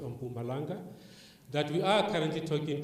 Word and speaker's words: Mpumalanga: There's a university that is coming in Mpumalanga, as it's pronounced, on Mpumalanga, that we are currently talking to as well, to ensure that when you start, that is already meeting the requirements.